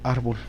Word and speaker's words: árbol: Si le escribimos en árbol. No, sería en ar.